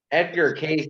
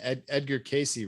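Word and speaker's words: Edgar Cayce: Edgar Case allegedly could access the Akashic records of an individual. You talking Edgar Casey, right? Or Casey, yeah. Yeah, Casey. Edgar Casey.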